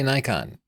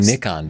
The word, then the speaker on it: Nikon: same fan base but Nikon USA they say Nikon and I feel like everybody gets to decide how their own name is pronounced but I like the saying nickon better maybe I'll just switch because I like it better I like saying